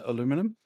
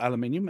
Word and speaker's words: aluminium: in somehow invested in aluminum or aluminium as we uh in the uk pronounce it um essentially this guy